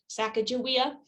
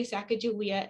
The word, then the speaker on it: Sacagawea: um i have said sacajawea and why i say sacagawea is that here at the center uh her people say they again they say sacagawea and they spell it with a j so as part of